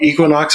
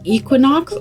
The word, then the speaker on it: Equinox: off off the bat is it Equinox or Equinox you tell us there there there's the vote cuz I have heard it two different ways now I think it depends on what side of the pond you're on I think most of